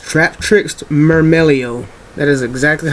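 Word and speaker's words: Myrmeleo: I've heard people call this um trap tricks Myro Melo or marro Melo it's not my anything if you know the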